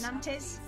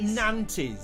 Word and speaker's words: Nantes: How do you pronounce Nantes? Nantes. It's not Nantes.